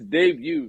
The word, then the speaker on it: debut: It's debut, nigga. Stop saying debut. Debut. I didn't pronounce the T.